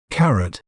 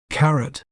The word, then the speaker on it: carrot: may pronounce it as carrot carrot car RIT remember not to say rot in the end carrot carrots are versatile